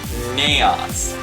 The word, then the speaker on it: naos: it was chaos and there was a word that rhymes with chaos and it's naos now a naos which is